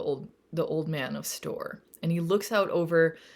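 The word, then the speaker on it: Storr: I went to see the old man of store and that is spelled s t r r and if you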